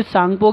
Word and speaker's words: सांगपो: है जैसे तिब्बत में इसे सांगपो कहते हैं ठीक है टी साइलेंट है आपका अरुणाचल प्रदेश में